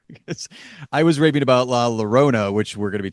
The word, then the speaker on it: La Llorona: Because I was raving about La Llorona, which we're going to be talking about here